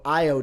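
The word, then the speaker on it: Ayo: It's Io DeSumo. It's spelled with an A, said with an I.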